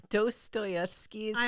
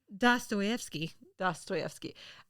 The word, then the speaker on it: Dostoevsky: Dostoevsky's final novel. I have it written out in the pronunciation. Oh, good. Can you fix that for me? Dostoevsky.